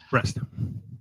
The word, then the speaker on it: Brest: Breast. Breast is a breast. Like boobies.